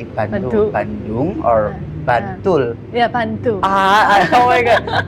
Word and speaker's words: Bantul: L, the L, the Bantul. Yeah. So maybe like this kind of pronunciation like still like hard to get, but I can hear, like I can listen, like people say Bantu, but for me I can hear, but it's hard to speak.